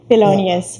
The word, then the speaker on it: Thelonious: I'm gonna try to pronounce it well. Thelonious? Yeah. Thelonious, right?